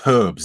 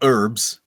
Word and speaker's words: herb: what I hate herbs it's herbs there's a h there it's not herbs what's an herb yeah